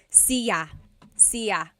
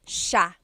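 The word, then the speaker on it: siya: It looks like it should be pronounced sa cia. But it's actually pronounced sha sha. So the s i y, it's a sha sound.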